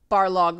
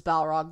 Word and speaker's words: Balrog: Not Barlog versus Balrog. That was just a mistake.